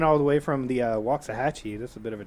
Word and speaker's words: Waxahachie: a trik I know at least you pronounce it right man it could be waxah hatchee wax you you'll get you'll get thrown in the dungeon really is it that